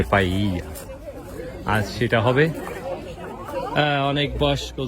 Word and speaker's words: paella: Spanish একটা tradition খাবার, নাম পাইয়া উচ্চারণ করতে ডাবল এল, কিন্তু স্প্যানিশ ভাষায় ডাবল এল থাকলে তার উচ্চারণ হয় জি, সেক্ষেত্রে পাইয়া।